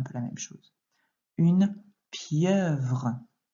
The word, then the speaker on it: pieuvre: Une pieuvre. Attention à ne pas oublier le son dans la deuxième syllabe.